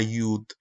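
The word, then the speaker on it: יוד: Por ejemplo, la yod, que aquí todavía vemos que dice yod, se cambió a yud.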